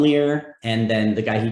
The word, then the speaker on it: Lehr: But anyway, his last name is spelled Lehr. John Lear, and then the guy he did a lot of comedy with on campus, his name was Jerry Saslow.